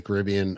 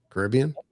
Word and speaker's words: Caribbean: I mean, so anyway, Beacon Barrel, uh, now open in the Magic Kingdom at Pirates of the Caribbean.